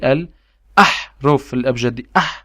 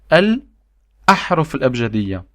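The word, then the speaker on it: الأحرف الأبجدية: And if you can see here, we have alif over here, and we have this on the letter. As you can see it above the letter. So that's why I say al-ahruf al-abjadiyya. I'm saying al-ahruf al-abjadiyya.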